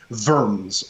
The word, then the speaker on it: Worms: kings they they live in verms or worms as it's spelt uh which is like